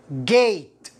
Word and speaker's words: gate: وهذه الكلمة، نعم، excellent، ممتاز، تنطق gate. gate. gate لأنه يوجد A ثم حرف ساكن ثم حرف الإي، فالإي هنا تكسره.